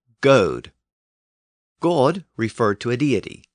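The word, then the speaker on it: gōd: So when an Anglo-Saxon scribe spelled the word G-O-D, it could be pronounced as either God or Goad.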